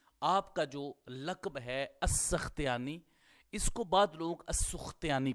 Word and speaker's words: السختیانی: کا فتحہ لکھا ہے، تو اس اعتبار سے تلفظ ہوگا السختیانی تا کے اوپر۔ لیکن یہ بات آپ ذہن میں رکھیے گا کہ تا کے نیچے کسرہ ہی راجح ہے، جو علامہ سمعانی نے کہا ہے السختیانی۔ اسی طرح ہی امام